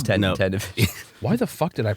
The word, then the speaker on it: Ted Nivison: I've always pronounced it Ted Nivison. No, it's Ted Navision.